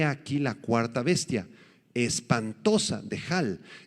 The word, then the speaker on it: dehal: Esta palabra espantosa, dehal, del arameo, D-E-H-A-L, con acento en la A, dehal, apunta hacia un ser formidable que produce terror.